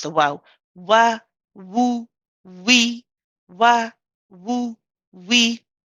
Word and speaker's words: واو: Okay, it's not a va, it's a wa, wa. So the lips do not touch the teeth at all.